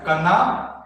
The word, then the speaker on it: Kana: Called as, this sign is also suffix symbol of the possessive case, which is pronounced in Gundi as Kana or Kira.